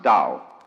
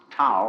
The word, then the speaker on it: Tao: We should have spelled it d o w you see but it's the tao.